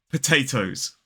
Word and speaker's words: potato: come from potatoes potatoes potato is three syllables and the stress falls on that second syllable so it's potato potato so at the start of the stress syllable there is a t sound that is aspirated but at the start of the third syllable that t isn't aspirated because it's at the start of an unstressed syllable now what a lot